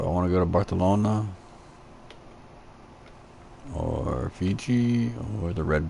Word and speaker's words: Barcelona: the authentic spain spanish pretty sure these cs are pronounced as th in that part of the world barcelona let's not botch this